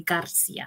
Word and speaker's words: Garcia: And then their last name, I've always taught them to say Garcia. You got to roll your R because that's how you say your name.